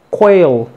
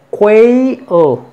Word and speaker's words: quail: Este, cuando tenemos una L al final, es así como que quail, fíjate bien, quail. El diptongo se tiene que pronunciar quay, quail, main, eight, freight, overweight,